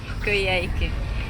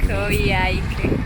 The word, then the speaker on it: Coyhaique: Coyhaique. Sounds like a bad pronunciation of karaoke. Coyhaique.